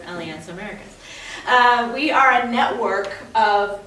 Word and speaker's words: Alianza Americas: So Alianza Americas is, and it's actually sounds like Spanish and hard to pronounce, but it's actually very simple. Alianza, like one alliance, Americas, all the Americas, right? Push it together, Alianza Americas.